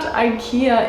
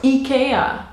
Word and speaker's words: IKEA: And then they just started laughing at us and just saying, it's not IKEA, it's IKEA. So I know that's how you're supposed to pronounce it in Swedish, but hey, I am not gonna do that.